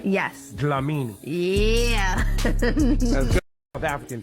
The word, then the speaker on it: Dlamini: Your name, I'm gonna try to pronounce it. Amala. Amala, perfect. Ratna. Okay, yep. That's pretty good. Yeah. Yes. Dlamini.